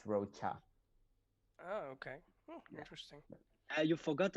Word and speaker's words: Rocha: character something like that it's pronounced like a hard K but it's Roa oh okay interesting you